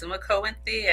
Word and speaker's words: Sumiko Inthyea: Sumo and Thea.